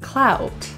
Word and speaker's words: clout: a lot of clout this is a diphthong vowel ow ow clout and it's quick so transition to rounded lips clout clutch this means